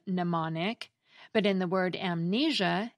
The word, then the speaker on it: mnemonic: The M is silent in mnemonic, but in the word amnesia, it gets pronounced as the end of the syllable M.